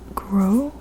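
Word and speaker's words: Gros: It's called The Philosophy of Walking by Friedrich Groh. Forgive me if I pronounce his name wrong. He's French. I believe that the S in his last name is silent, but I don't know.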